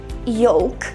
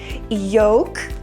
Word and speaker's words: yolk: I said yolk. But some people say that it's more correct to pronounce it with a silent L sound, yolk or yolk.